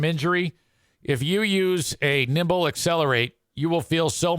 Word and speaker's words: Nimbl: The company is Nimble, Nimbl. They spell it weird, Nim, the Nimble Accelerate Percussion Massage Gun.